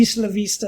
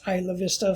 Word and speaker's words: Isla Vista: This happened in the evening in a part of, it's actually Isla Vista is how it's pronounced, but it's been mispronounced Isla Vista for decades now, so it's just called that.